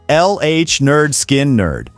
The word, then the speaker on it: Lynyrd Skynyrd: Soon after signing their record deal, Lynyrd Skynyrd released their debut album, pronounced Lynyrd Skynyrd, packed with now iconic tracks like Gimme 3 Steps, Simple Man, and their defining anthem, Free Bird.